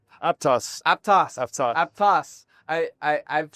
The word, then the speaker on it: Aptos: So, it's actually based on a small town. The name is Apttoas about an hour south of the Bay Area. And that's the way they pronounce it. So, I think that's uh that's what we go with.